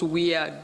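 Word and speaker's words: WEAI: it's called the weir because it's pronounced we are despite the fact that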